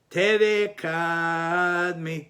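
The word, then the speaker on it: קַדְמָא: Kadme, not kadme, kadme. The emphasis is on the syllable before the last syllable, and for us, that's considered, Sfaradim, that's considered a separate ta'am.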